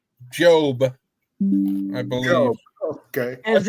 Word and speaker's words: Job: Job Jr. Well, it's Hello, actually Job, pronounced Job, I believe.